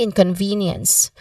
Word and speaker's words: inconvenience: The third syllable of V has a long E sound, as in C, inconvenience. Many might shorten it. That's some common mistake. Also, the initial in, it has a short E sound.